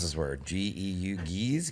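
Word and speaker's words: Gueuze: What is, I don't know how to pronounce this word. G-E-U, geese? Goose?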